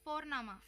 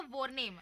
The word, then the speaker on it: Vorname: और हम यहाँ पे फोरनामा प्रोनाउंस करते हैं बट लिखते हैं उसको वी, वॉरना, VORNAME। ओके, तो वो हम इंग्लिश के अनुसार प्रोनाउंस करेंगे तो बनेगा वॉरनेम, बट नो, इट्स फोरनामा।